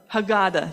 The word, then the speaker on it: Haggadah: Many families maintain their own versions of the Haggadah that include their Haggadah, thank you, Charlie. I always mispronounce that.